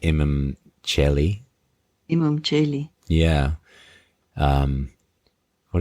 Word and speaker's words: Imum Coeli: you know the immi am I pronouncing that right? I mean dead language Latin anyway right but am I saying that right? Some say it as chel. Oh chelli. Okay. Yeah. So the imam chelli.